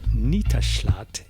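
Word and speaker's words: Nittaallat: and look for stinee jacobson now we would pronounce that jacobson j-a-c-o-b-s-e-n but it's stine jakobson and the cd is entitled nitashlat n-i-t-t-a-a-l-l-a-t and this is song number four on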